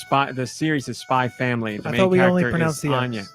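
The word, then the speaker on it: Spy × Family: spy the series is spy family the main we don't pronounce the X and this is based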